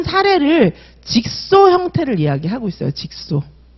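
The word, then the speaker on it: jigsaw: 직소. 이거 직소라고 읽어요.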